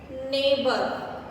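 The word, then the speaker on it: neighbour: अब है GH, नेबर, इसमें GH जो है साइलेंट है, इसकी साउंड नहीं आएगी जब हम बोलेंगे। अब ये है डॉटर, इसमें भी GH साइलेंट है।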